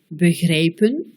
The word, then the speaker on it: begrijpen: E muet, begrijpen, E bref, belkrediet, E long, beteren.